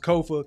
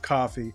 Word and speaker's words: Kofa: Once again, I am your humble host, Kofa, K-O-F-A, not coffee, not, not Kofi, or any variation thereof. Kofa rhymes with sofa, easy to say, easy to spell.